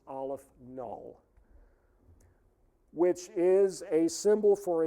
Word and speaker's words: aleph-null: The subscript is 0, and that is pronounced Aleph null, which is a symbol for a certain level of infinity.